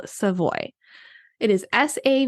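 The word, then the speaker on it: Savoie: I'm going to recommend to you is called seavoy it is sa a v o i e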